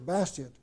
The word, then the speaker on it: Bastiat: the name of Frederick Bastiat. You might pronounce that Bastiat, but I pronounce it Bastiat because I'm not French.